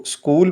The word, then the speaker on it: school: ساتھ لکھا جائے گا، لیکن اس کو جب پڑھیں گے تو اسکول پڑھا جائے گا اور ایچ کی ساؤنڈ یا آواز نہیں آئے گی، کیونکہ ایچ ایک سائلنٹ لیٹر ہے یعنی خاموش حرف ہے۔ Next sentence is: please